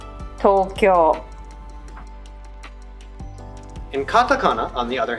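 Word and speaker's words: とうきょう: that e as a if you see a hiragana u after an o ending hiragana read that u as o there are many common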